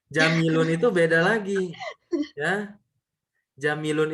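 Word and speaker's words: جَمِيلٌ: Haza jamilun. Hmm. Haza jamalun. Nah, jamilun itu beda lagi. Ya. Jamilun itu tulisannya begini, Hafizah. Jim, ja, mim, sama ya sukun. Maka panjang tadi kan mimnya.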